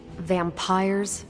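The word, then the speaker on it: vampyres: Vampires with a Y? Pronounced exactly the same as vampires.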